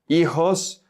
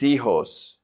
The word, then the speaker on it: hijos: Here, mis, the S the H is silent, so the S is going to connect to the I. Remember that the H in Spanish is always silent. So, mis hijos.